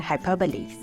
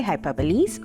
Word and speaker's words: hyperbole: statements relatable you would have understood two different hyperboles today let's delve into how to use and identify hyperboles when it comes to English firstly attempt to